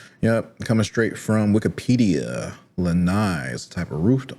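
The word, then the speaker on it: Lanai: Lai, not Len.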